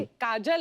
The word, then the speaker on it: काजोल: Unique नाम है आपका काजोल काजल है ना बट काजल होता है काजोल हां बंगाली में काजोल में ऐसे ही उसका प्रोनन्सिएशन ऐसा पर बड़ा अच्छा लगता है काजोल।